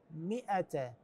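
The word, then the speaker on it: مائة: على ذن الحروف الثلاثه معناته هذن الحروف لا تلفظ ابدا يعني كانما غير موجوده ما نقراها فانت قالنا في هذه الكلمه كلمه مئ منين تصير من الميم المكسوره الى الهمزه المفتوحه فنقول مئه مئ وليس بعضهم يقراها ما ات ما ات غير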